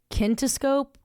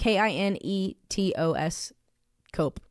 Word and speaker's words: kinetoscope: And in the case of Thomas Edison, he first showcased his movies with the kinescope, like, sorry, I know how to pronounce this. Kinescope? Yeah, kinescope. I think that's right. Kinetos cope.